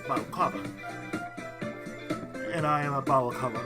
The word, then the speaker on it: Balocava: Also pronounced Balocava or Balocava? It's pronounced Balocava.